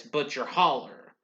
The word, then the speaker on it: Butcher Hollow: of grinding poverty in butcher hollow kentucky pronounced by locals as butcher holler in 1948 at the